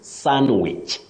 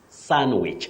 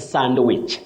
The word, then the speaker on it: sandwich: D in that word the D is silent so you say sandwich sandwich not sandwich the way many people